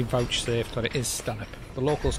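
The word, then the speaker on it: Stanhope: and you're looking on a map it'll see stanh hope um but it's pronounced Stan and I've just spoken to the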